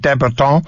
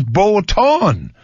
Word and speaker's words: Botton: 0 TT 0 n so if he was French will be someone like Deb at all but apparently his name is boat on a deadbolt on is how this fellow says it should be pronounced yeah I think that's